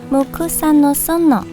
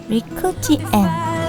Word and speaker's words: 六義園: 在江户时代被叫做 Mukusa no Sono，现在按照汉字音读，读作 Rikuji En。